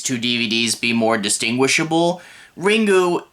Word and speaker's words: Ringu: DVDs be more distinguishable ringu is the Japanese word for ring you can call it ringu you can call it ring either way it doesn't matter but